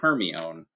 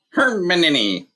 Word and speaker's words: Hermione: candlelight hermioneck was now teaching crumb to say her name properly he kept calling her Hermione Hermione she said slowly and fairly her mini said Crum and a voice unlike